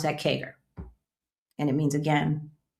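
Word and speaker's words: CAGR: Number four is historical kagger. Compound annual growth rate. Y'all have seen that. C A GR. All right. In accounting, we pronounce that KGER.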